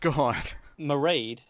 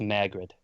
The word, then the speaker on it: Mairghread: at his surname so god meride is the the gaelic pronunciation the original spell the pronunciation of the of that name however she has tweeted in the in the past that she goes by the americanized saying of it which is just margaret merrick reds yes around